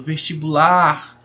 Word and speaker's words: vestibular: Então a palavra, por exemplo, vestibular, a sílaba aí que é a mais forte, a que se prolonga mais, é o lar, né?